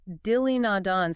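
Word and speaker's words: دلِ ناداں: Dili nadan. See how the E just bridges dili nadan?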